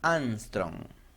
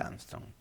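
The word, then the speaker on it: Ångström: Y se llama Angstrom. Suena de una manera parecida a un famoso astronauta que fue a la Luna, pero no se escribe igual.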